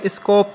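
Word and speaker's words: Skopje: इसको प्रोनाउंस कैसे करेंगे इसका ओरिजिनल प्रोनंसिएशन है वह है स्कोप ये इंगलिश बलिश वालों की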